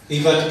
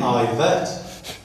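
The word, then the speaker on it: Yvette: Evet Cooper. She pronounces her name Ivet, which is presumably why she didn't take her husband's surname.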